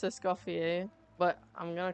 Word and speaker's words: Escoffier: Okay, I know that it's pronounced Essuffier, but I'm going to call her Escuffier.